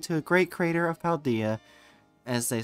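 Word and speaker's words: Paldea: I'll pass lead to a great creator of paldia as they say no I'm sorry I'll pass later to the great creator of Parmesan as they say also is from also is pronounced paldaya I don't care we're naming every place in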